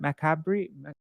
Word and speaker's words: macabre: he had escaped them how do you say this word macabre make a brief yeah my cat oh it's French okay Macabre so he told the